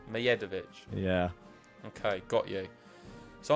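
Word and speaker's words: Medjedović: people in the comments, Mijedovic. The D is silent like Djokovic. How'd you say it? Mijedovic. Mijedovic.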